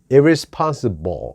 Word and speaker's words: irresponsible: 되는데, 아무튼 간략하게 말씀드리면 끝받침이 L인 경우에는 소리가 어떻게 날까요? 불이 아니고 보처럼 입이 움직여야 합니다. L이 아니고 L 이거기 때문에 이 L 발음을 정확하게 하고 근육이 정확히 소리를 낸다면 그렇게 될 수밖에 없습니다. irresponsible 이렇게 됩니다. irresponsible이 아니라 irresponsible. 이 외국인 혐오주의는 한국처럼 민족주의가